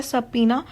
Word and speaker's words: subpoena: ठीक है, इसको जो इसकी करेक्ट प्रोनाउंसिएशन है वो है subpoena।